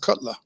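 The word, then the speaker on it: kgotla: something called the Cutler it's not spelled like that but it's pronounced Cutler and Cutler is any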